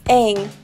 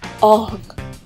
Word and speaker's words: Aang: It's Aang, not Aang.